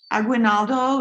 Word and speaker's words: Aguinaldo: chat you guys um aguinaldo am i pronouncing your name correctly yes yes hello it's very nice it's